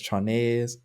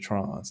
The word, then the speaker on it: Tronnes: David Trons, now his last name is spelled Tronnes. I don't know if that's Trones. I'm going to pronounce it Trons.